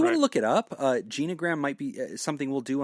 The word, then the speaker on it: genogram: But type it in, G-E-N-O, gram, G-R-A-M. That's how you spell it.